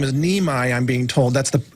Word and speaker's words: Niemi: His name is Neimi, I'm being told. That's the correct pronunciation of his last name.